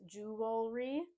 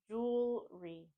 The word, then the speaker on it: jewelry: word correctly is to think of what jewelry is made up of jewels so think jewelry just adding that re on the end jewelry jewelry jewelry I love